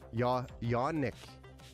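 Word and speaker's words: Janik: I'm like, this looks like John, but I've never seen this name before. First time I've ever had to try to pronounce this name. Yonick is the correct. Yanick.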